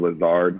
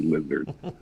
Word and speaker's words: Lazard: of people have mispronounced my last name several times called me lizard um so i've always